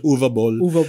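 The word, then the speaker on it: Uwe Boll: Ball si uwe Ball iba-iba yung pronunciation e German pronunciation UV Ball ay So yun nga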